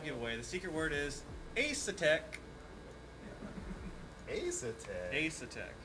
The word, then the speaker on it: Asetek: The secret word is Asetek. Asetek. How do you spell that?